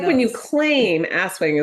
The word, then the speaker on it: Aswang: Like when you claim aswang is pronounced aswang. Aswang. I believe it's aswang with the empasus on the second syllable.